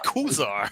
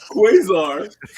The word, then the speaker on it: Quasar: Quasar. Wow, Quasar. please drink for that. I forget. Are you He said, kidding me? he said Kuzar.